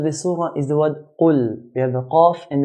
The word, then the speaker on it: قل: Qaf is considered to be from the 7 heavy letters in the Arabic language. So Arabs will pronounce qaf in a heavy manner. قل.